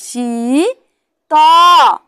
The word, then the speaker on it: শীত: খুব শীত তাহলে বসায় দীর্ঘিকারে শি ত শীত তাহলে হস্বীকার দিলেও ই উচ্চারণ হবে হস্বীকার দিলেও ই উচ্চারণ